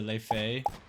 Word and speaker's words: Laufey: she's the person that it's spelled like Laufey, you know? Oh, I don't know. No clue. Laufey.